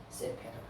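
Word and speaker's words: ספר: 성경이라고 하는 말 그래서 요거를 세페라 이렇게 읽습니다 세페르 이렇게 표현한다고 하는 걸 좀 기억하시면 되겠습니다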